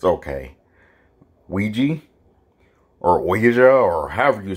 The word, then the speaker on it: Ouija: I've always heard people say Ouija. So it's one of those words like possum, you know, with the silent O. It literally looks like it's spelled E-E-I-J-A. It sounds like that, but it looks, and yeah, it looks completely different rather than how it's really spelled.